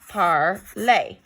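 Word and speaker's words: parlent: So if we want to say they speak or they are speaking, you do not pronounce that ENT. It's just parle, okay?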